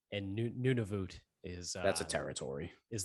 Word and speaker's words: Nunavut: Nunavut.